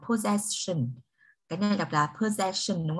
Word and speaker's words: possession: Cái này đọc là possession đúng không ạ? Mặc dù có double S nhưng mà nó phát âm là âm z.